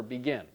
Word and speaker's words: begin: again this is the stress pattern for begin the second syllable is stressed and when the second